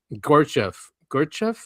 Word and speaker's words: Gurdjieff: Just remind me, I didn't put it in here, is that philosopher in the 1900s, Gurdjieff, is how you say his name, and he